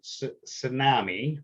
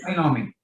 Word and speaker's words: Cynomi: So David is from Tsunami, right? I'm pronouncing that correct? Is that correct? Cynomi.